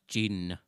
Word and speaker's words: D'jin: only it's just pronounced gene gene oh i'm sorry i thought it was i could use a gene no the d is not it you don't pronounce it all the way it's sort of this